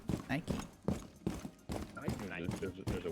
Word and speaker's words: Nike: It's Nike. It's It's Nike. American. No, Adidas. Adidas. It is Adidas. So, yeah, you said it right, Adidas. Who says Adidas? Some people do. It's Adidas. I know some people say Nike as well, you know, and they're wrong. So But it's Nike.